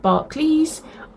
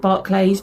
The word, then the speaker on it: Barclays: Most people call it Barclays. I have always called it Barclays because it's spelt Barclays.